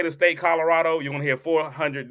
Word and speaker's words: Colorado: people say the state Colorado, you're going to hear 400 different pronunciations. Nobody can say Colorado. Somebody say Colorado. Listen, that last O gets dropped a lot.